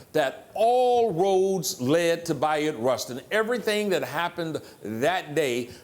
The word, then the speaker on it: Bayard Rustin: was the organizer that all roads led to bot Rustin everything that happened that day bot Rustin his name is often pronounced Bayard Rustin because that's how it spelled but he called